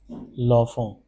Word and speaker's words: l'enfant: It is pronounced as l'enfant.